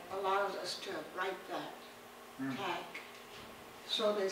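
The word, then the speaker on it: tléik': In the language book, it's spelled T-L-E-I-X. T-L-E-I-K, yeah, with a K. T-L-E-I-K, take. All my life I heard it as clack.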